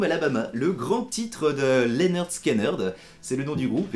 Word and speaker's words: Lynyrd Skynyrd: de chez Galago Music pour vous présenter aujourd'hui Sweet Home Alabama, le grand titre de Lynyrd Skynyrd. C'est le nom du groupe et la manière de le prononcer.